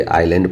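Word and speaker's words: island: सो बताते हैं आई और एल के बीच में अगर एस जो है आ जाए तो उस एस को क्या कर दिया जाता है? साइलेंट किया जाता है। नहीं बोला जाता है।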